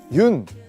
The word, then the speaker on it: 윤: 여기 보시면 흙이 있는데요 많은 분들이 아마 그 윤 이제 윤이라고 읽거든요 연이라고 읽으실 수도 있고 뭐 여러가지 방법으로 읽을 수 있는데 그 유년근 화백 님의